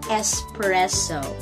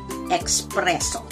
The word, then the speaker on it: espresso: sound to this so it should only be espresso espresso and not expresso okay so it's espresso and that's it